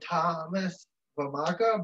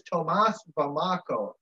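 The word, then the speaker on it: Tomáš Vomáčka: against the Hurricanes, did sign goaltender Thomas Vamaka, but I believe it is Tomas Vamaka. Pronunciation-wise.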